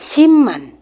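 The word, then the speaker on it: 십만: kan sip ya maka ini adalah siipman dibaca Siman cara menghafalnya seperti itu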